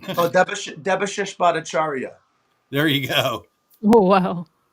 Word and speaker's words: Debashish Bhattacharya: Oh, Debashish Bhattacharya.